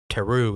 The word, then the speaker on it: Teru: i think and do another character Teru is how you pronounce his his name you had described this